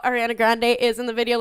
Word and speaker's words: Ariana Grande: So Aria Grande. Whoa. What's Aria Grande, huh? Ariana Grande.